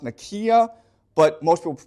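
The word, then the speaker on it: Nicaea: Okay, it's properly pronounced Nikia, but most people pronounce it Nika.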